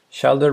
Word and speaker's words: shoulder: is going to be shoulder rhymes with folder so it's shoulder not not shoulder it's shoulder okay let's put